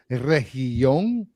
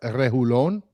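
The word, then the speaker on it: Reguilón: I thought it was Region, but then people were saying it's not double I-yon, it's Lon.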